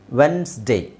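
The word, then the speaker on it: Wednesday: Sunday Monday ಟ್ಯೂಸ್ಡೇ ವೆನ್ಡೇಸ್ ವೆನ್ಸ್ಡೇ ಆ ಇದು ಕನ್ನಡದಲ್ಲಿ ಬರೆದಿರೋದು ವೆನ್ಸ್ಡೇ ಬರೆದಿದ್ದೀನಿ ಬಟ್ ಅದು ಕೂಡಿಕೊಂಡಿದೆ ಸೋ ಈ ತರ when ವೆನ್ಸ್ ಡೇ ವೆನ್ಸ್ಡೇ which means ಇಲ್ಲಿ ನಿಮಗೆ ಡಿ ಸೈಲೆಂಟ್ ಇದೆ ಆಮೇಲೆ ಇಲ್ಲಿ ಇ ನು ಸೈಲೆಂಟ್ ಇದೆ ಅಲ್ಲಿಗೆ ಎಷ್ಟು ಅಕ್ಷರಗಳು ಡಬ್ಲ್ಯೂ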